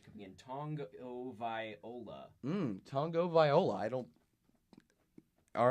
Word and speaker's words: Tagovailoa: So, we're getting some pronunciation coming in. Tagovailoa. Tagovailoa. All right. I believe it's Tagovailoa.